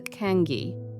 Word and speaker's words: cangue: This was the cangue, pronounced roughly Cangue, a wooden punishment collar